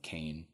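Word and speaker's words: Qayin: it's spelled qya n but pronounced like Kane this alternate spelling for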